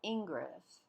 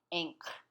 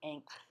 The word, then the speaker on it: Ingres: It's not Ingres, although someone will know what you mean if you pronounce it thusly, but the pronunciation of Ingres in French is Ingres, as an anchor, Ingres.